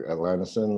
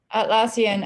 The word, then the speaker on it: Atlassian: Well, I got invited by, I don't know how you say it exactly, Atlanticin, the one who does Trello. And then I'll have to look up the other one. Atlassian? Atlassian, I mean.